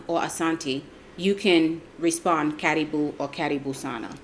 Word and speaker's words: karibu: and it's for, if you want me to just pronounce it like how an American would read it, is caribou, but it's pronounced karibu.